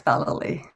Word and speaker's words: Vallely: You've pronounced it perfectly. It's Vallely. That's right. I get a lot of different variations on that, but you've done it right.